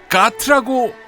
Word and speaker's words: GATT: 오늘의 이야기는 GATT라고 쓰고 가트라고 읽는다.